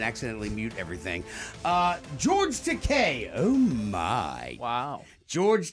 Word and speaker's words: Takei: Gay rhymes with te.